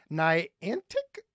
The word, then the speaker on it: Niantic: but thank you let's go to ASA in Niantic Illinois is it am I pronouncing that right yeah awesome yeah that's right